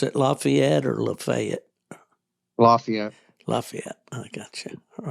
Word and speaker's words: Lafayette: Do you pronounce it Lafayette or Lafayette? Lafayette.